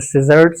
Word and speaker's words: scissors: It's a scissors. It's not skizzards.